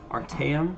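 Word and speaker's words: Artaeum: The sicks of the aisle of Art Artam Artam. Yeah, Art Artam, that's how you say it, have a different term for mysticism.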